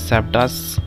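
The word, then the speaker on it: sabotage: सैबटास pronunciation ध्यान से सुनिएगा, इसे प्रोनाउंस करते हैं सैबटास।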